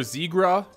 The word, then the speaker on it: Zegras: pronounced two different ways i've heard trevor zegra and trevor z griss siegraw came when they drafted him but i've heard zigris at the world juniors and it's also on elite prospects so i'm gonna go with that one trevor was drafted ninth